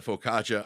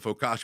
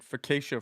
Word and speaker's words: focaccia: we're all different so is that how that's pronounced Focaccia Focaccia yeah I've been saying facisha for my entire life unless I'm wrong I'm wrong but nobody's